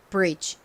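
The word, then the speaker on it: bridge: 않고가 단어의 끝부분에 오니까 바람 빠지듯이 약하게 발음이 되죠 자 한 곡식 표기법으로는 브릿지 그리고 실제 발음은 따라해 보세요 brige brige 좋습니다이 브리지의 의미가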